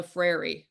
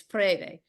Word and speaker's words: Freire: Okay, that's how you say it. Some people say Paulo Freire, but it's Freire.